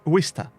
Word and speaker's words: Worcester: So if I see a ship spelt that way, obviously without the park end, I'm gonna say Worcester because that's what I've grown up with.